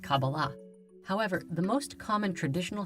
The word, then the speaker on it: Kabbalah: in the Hebrew alphabet these four letters together are pronounced Kabbalah however the most common